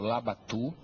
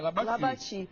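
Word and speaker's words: Labatut: o General Pedro labatu meu velho Professor cazã ensinou que a gente deve chamar Como o povo chamava na época e chamava labatu e chamava labatu não era labatu não é porque a pronúncia lá dia ele nasceu É labati mas ele dizia Olha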